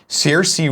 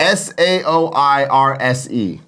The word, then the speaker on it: Saoirse: Saoirse Ronan, I think is how you say it.